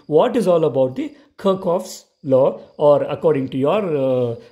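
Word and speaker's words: Kirchhoff: is let's see what is all about the kirkhof's law or according to your pronunciation kichov's laws going to the kirkhof's law please note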